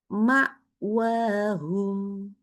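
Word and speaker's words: مأواهم: Contoh lain, ma'wahum. Ma'wahum. Oke, nggak boleh ma'wahum. Ma'wahum. Hamzah enggak, ain enggak. Ya, jadi hati-hati bacanya harus langsung berhenti.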